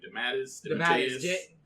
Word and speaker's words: DeMatteis: DeMatteis? DeMatteis.